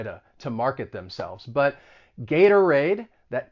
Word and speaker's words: Gatorade: keep going with some more examples of the flap t gatorade this is a well-known